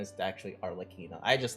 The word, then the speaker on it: Arlecchino: Now her actual name is pronounced Arle- Arlecchino, but I don't like that, Gino. so I call it Arlecchino because it sounds like cappuccino.